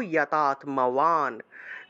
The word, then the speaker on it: যতাত্মবান: তাহলে সর্বকর্ম ফল ত্যাগম ততঃ কুরু, এই যে বিসর্গ আছে, তাহলে ততঃ, ততঃ কুরু যতাত্মবান। যতাত্ম আছে না, উচ্চারণ হবে যতাত্ম, যতাত্ম, বান শব্দটাকে ওয়ান হিসেবে উচ্চারণ করতে হয়, যতাত্মবান।